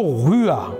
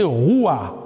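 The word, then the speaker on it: רוח: Le mot esprit, par contre, en hébreu, c'est le mot rua, ou on peut prononcer roua.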